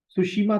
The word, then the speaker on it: Tsushima: दूसरा करंट लिखिएगा सुशीमा current, spelling T से शुरू होगी, TSUSHIMA, सुशीमा करंट, ठीक है।